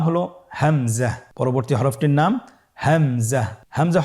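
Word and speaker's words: همزة: পরবর্তী হরফটির নাম হামজা। হামজা হরফটি উচ্চারণ ক্ষেত্রে বারিক করে উচ্চারণ করতে হবে এবং এখানে টেনে পড়া যাবে না।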